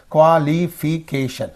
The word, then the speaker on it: qualification: Qualification is there. Qualification. So this is the suffix. Preceding syllable. K is there.